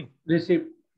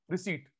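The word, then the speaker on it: receipt: रिसिप्ट। जब रिसीट, फिर रिसिप्ट बोल रहे हैं, रिसीट पी साइलेंट होता है।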